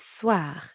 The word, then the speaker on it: soir: And the second part is soir. That means evening. Soir. The end sound is kind of like saying ah at the dentist.